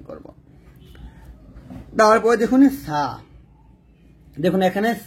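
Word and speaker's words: صاد: দাঁতে লাগাবেন না এরকম আমরা অনেকে এটাকে সোয়াদ বলি এটাকে তো বলি এই যে ঠোঁটটা গোল করে বলি তো সোয়াদ এরকম বলি এরকম বলা যাবে না এটা ভুল উচ্চারণ তারপর হচ্ছে দেখুন দুইটা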